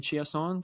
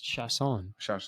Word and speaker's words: Chiasson: Chasson, but I kept saying Chiasson for last week. It's Chasson. Yeah, I kept saying it wrong.